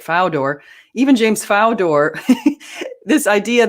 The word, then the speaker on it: Fodor: Now, let's note that even James, I guess he's pronounced Fodor. Okay, I thought it was Fodor, but Fodor.